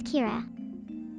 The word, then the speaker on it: Kira: My name is Kira. Two syllables, four letters.